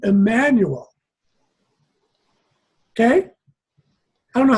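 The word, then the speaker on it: Jmmanuel: Jemmanuel is pronounced Emmanuel. You don't pronounce the J.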